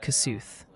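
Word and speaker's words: Kossuth: Multiple viewers are chiming in that Kasuth County is pronounced more like Cass.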